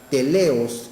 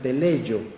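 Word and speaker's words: τέλειος: con la palabra griega teleos, que algunos la pronuncian teleio, pero es teleo, que se encuentra en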